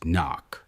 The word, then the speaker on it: NOC: They offer you a definitive transfer after 3 years of compromise into non-official cover, NOC, pronounced NOC.